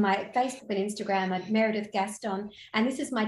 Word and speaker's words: Meredith: name Gaston um I love that you say meredi it's it's it's proper pronunciation in in Welsh which I thought no